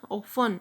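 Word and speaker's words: often: दियर mother ऑफन, इसको हम पढ़ेंगे ऑफन. टी जो है साइलेंट पे चला जाएगा.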